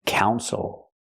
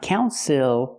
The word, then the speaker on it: council: decisions for the city again not counil but Council the stress is on the first syllable the second syllable is not stressed so we don't say ill we say o Council